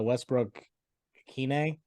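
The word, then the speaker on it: Westbrook-Ikhine: they keep finding uh Westbrook Kine is how you say it yeah um he seems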